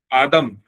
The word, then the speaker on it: आदम: तो एडम का pronunciation Islamic culture में है आदम।